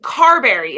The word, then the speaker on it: Carberry: Currently lives in Carberry. Am I pronouncing that correctly? Yes.